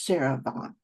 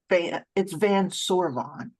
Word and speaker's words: Van Sorvon: He may say that his name is Sarah Vaughn, but it's Van Sorvon. At least in the mountains is essentially how you'd say it, and that is how